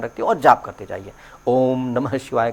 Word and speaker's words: ओम: उसकी आवाज ओम हो करके आता है। That is ओम।